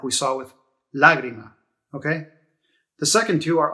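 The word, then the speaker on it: lágrima: at this word lagrima you see how that accent mark is over that first a so it tells you to stress the first syllable lagrima it's not lagrima and it's not lagrima so you see anytime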